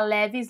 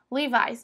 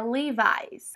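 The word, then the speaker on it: Levi's: procurando por essa loja se você falar leves leves eles não vão entender nada então você fala Levis livis mas aqui no Brasil pode continuar falando leves né Para ninguém falar que você tá pagando aí de Gringo mas o jeitinho certo mesmo é levies a quarta palavrinha é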